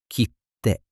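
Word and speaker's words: 切手: When you see them, you pause slightly before the sound. For example, kitte. There's a tiny pause before the T, like kitte.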